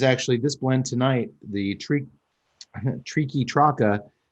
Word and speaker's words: Triqui: And this is actually this blend tonight, the Triqui Traca. I cannot say it. I can't want to say tricky. That's Triqui.